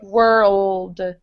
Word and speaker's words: world: have to flip it up and touch the roof okay. of your mouth for the L. Okay. World.